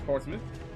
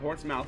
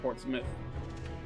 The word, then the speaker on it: Portsmouth: not leester it's Lester this is Portsmith not Portsmouth but Portsmith and this is fouth